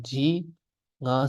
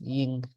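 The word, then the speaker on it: དབྱིངས: So this would be spelled Dao, Ba, Yatak, Ja, Giku, Ji, Nga, Sa, Ying. So this is the surprise that this is not pronounced Jing, this is pronounced Ying.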